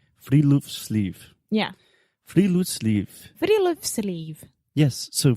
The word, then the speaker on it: Friluftsliv: Alexia, do you want to take a guess at how to pronounce this? We already know because we were practicing. So give it to me. It's Friluftsliv. Friluftsliv.